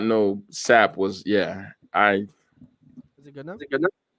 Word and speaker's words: Psapp: The experimental British duo Psapp, that's how it's pronounced.